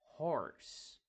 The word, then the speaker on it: horse: né Horse Horse Horse importante o h ele nunca vai ter o som de R E o r a maioria das vezes não vai ter o som do h né então Horse não é rse Horse é Horse que é semelhante ao R do Brasil né Por